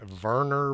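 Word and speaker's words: Wernher: it Wagner it's like Warner von Braun uh I've heard it pronounced Werner but it's got a w in it Maria's hair was blonde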